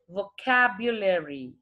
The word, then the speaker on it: vocabulary: Vocabulary. All right, children, it is vocabulary. V, when we pronounce V, our lower lip should touch our upper teeth.